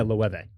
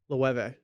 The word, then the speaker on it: Loewe: I did not see that brand when I first started coming across it and know, oh yeah, Loewe. Loewe. Yeah. It's almost like nueve in Spanish for 9.